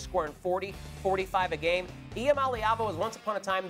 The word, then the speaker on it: Iamaleava: It's Tennessee QB Nico Iamaleava.